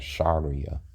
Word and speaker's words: Sharia: So he doesn't know how to pronounce it. It's called Sharia.